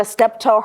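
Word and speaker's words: Steptoe: City by Dr toana stepto her name is spelled t y i n a s t e p t o e step toe and she she's at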